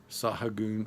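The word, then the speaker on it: Sahagún: today just for the first time that it's pronounced saw UHN saw a goon saw you and it's a little more than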